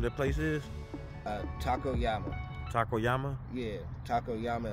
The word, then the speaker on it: Yama: place is uh Taco Yama Taco Yama yeah Taco Yama it looks like taco llama but I'm told us pronounced Yama oh okay okay yeah